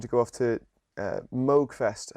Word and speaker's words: Moogfest: go off to uh Moogfest I believe it's pronounced uh out in the states uh of course if you know anything about a tool you know who he is his name is caps I hope I pronounced that right yes you did you also pronounced Mo right yeah cool um um